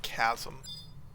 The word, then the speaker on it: chasm: Fall into a giant chasm. I will forever say chasm because of how it's spelled, but it's chasm.